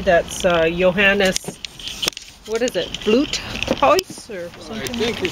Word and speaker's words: Vloothuis: Or Vloothuis, maybe. Germans say V's like F's. Oh, really? Yeah. Unless they're borrowed, but if they're native to German, they say it like an F.